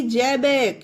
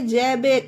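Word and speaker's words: Xebec: बाद ई आया देखिए एक्स ई बीई सी जबेक यह पढ़ेंगे जबेक एक्स को जा पढ़ा गया जबेक यह देखिए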